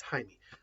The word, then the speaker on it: Jaime: high in here is it's spelled with a J but it's Jaime um but that um